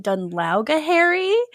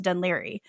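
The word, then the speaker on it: Dún Laoghaire: whatever and she's like, "Uh, I'm staying in Dunla." And like 100% she's just trying to figure out how to pronounce it. And she laughs at her and he's like, "Actually, it's pronounced Dun Liry."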